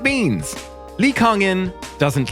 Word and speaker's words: Kang In: In his local area, people say his name as Kang Jin, which seems to come from how they read his English name Kang In Lee, as Kang Jin instead of Kang In.